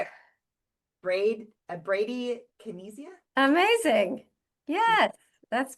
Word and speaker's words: bradykinesia: Bradykinesia?